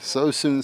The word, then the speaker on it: Suisun: So soon city is how we say the name of this uh this team here.